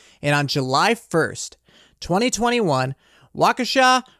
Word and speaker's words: Waukesha: on july 1st 2021 waukesha is how you say a waukesha county judge